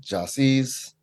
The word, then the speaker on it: Jahsee: embrace it, but like people say it wrong all the time when they see it, even though it's phonetic, Jahsee, Jahsee.